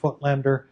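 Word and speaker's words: Voigtländer: by the company petzval and footlender so that's pronounced footlander and the lens generally known as the footlander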